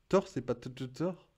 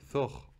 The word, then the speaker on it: Thor: Thor, c'est pas Thor. Attends, qu'est-ce que tu me trolles là? Non mais là tu me trolles. Le T il se prononce. Bref, on pourrait faire une liste.